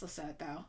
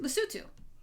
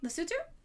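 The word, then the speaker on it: Lesotho: country that I have recently learned is not pronounced lass though and is pronounced lutu, right? Lutu.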